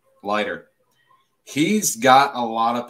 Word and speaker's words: Leiter: Jack Lytle. Is that how you say it? The Vanderbilt pitcher. Oh, Jack Leiter? Leiter.